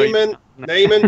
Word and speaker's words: Neyman: Neyman because it rhymes with Shaman.